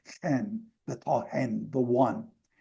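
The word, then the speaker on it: ἕν: In Greek, I showed you this in Greek, the tohen, the en in Greek has a rough breathing mark in front of it, so it would have been pronounced hen, the tohen, the one.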